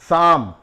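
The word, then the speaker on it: psalm: अगला वर्ड है शाम पी एस ए एल एम सैम तो यहां पर देखिए ब साइलेंट हो रहा है जैसे एक वर्ड आता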